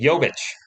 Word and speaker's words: Jovic: Did I say Jokic? Jovic.